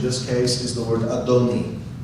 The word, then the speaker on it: Adonai: what's interesting is that actually spells Adonai here it's pronounced adoni but here it also